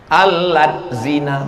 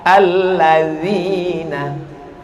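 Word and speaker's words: الذين: Alat zina. Loh, kok menjadi alat zina? D sama Z itu bacanya la. Allazina.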